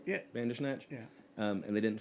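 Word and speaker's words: Bandersnatch: uh led by former Santana and from and pronounced this right for me. From us Bander Snatch members. Is that right? Yeah. Bander Snatch.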